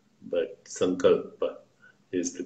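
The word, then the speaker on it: Sankalpa: is called some God or if you want some color bar but come culpa is the correct pronunciation it means subtle intention these are most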